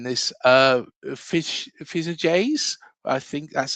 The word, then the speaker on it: Fichajes: According to a recent report from, and I'm going to struggle saying this, Fijajes. I think that's how you say it, Fijajes. Fichajes, like in Spanish, the J is pronounced H.